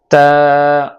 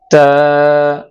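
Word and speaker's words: تاء: তা উচ্চারণ করতে হবে জিহ্বার আগাটা সামনে যে দুটা দাঁত আছে ওই দাঁতের গোড়ার সাথে লাগিয়ে তারপরে তা উচ্চারণ করতে হবে। তা তা তা তা তা তা তা তা।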